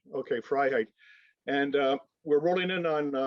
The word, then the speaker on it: Freiheit: Freiheit. Phonetically, it's Freiheit, and it's verbatim freedom in German. Right. Okay, Freiheit.